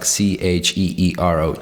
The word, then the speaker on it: Ciro: It's really, it'd be pronounced like Cheero, Ciro, right?